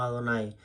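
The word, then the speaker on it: Adonai: de la escritura hebrea usted lo va a pronunciar como adonáis con la conciencia que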